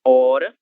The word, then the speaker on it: hora: A palavra hora em português se escreve com a letra H, mas esse H ele será surdo, ele não vai ter nenhum som.